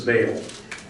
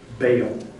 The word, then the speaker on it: Baal: They worship other gods, and the title that the text gives to this god that she worships we usually pronounce this Baal.